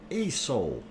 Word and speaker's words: Aso: okay i'm gonna put you on uh um a soul aso is how it is spelled don't mispronounce that a soul a soul sand jelly stone you want to